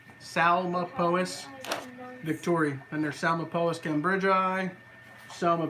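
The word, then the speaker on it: Psalmopoeus: say it right lol it's almost like it's pronounced with an s Salim opposed it starts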